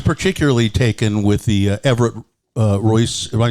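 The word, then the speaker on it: Ruess: I was particularly taken with the Everett Royce. Am I saying that right? Well, okay. The family officially pronounced it Ruis. Ruis. But I and everyone else calls him Everett Roos.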